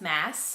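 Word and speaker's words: Maas: My husband's name is Josh, but, and then her last name is Mass. It's Mass, actually, because I was saying Moss for a while, but it's Mass.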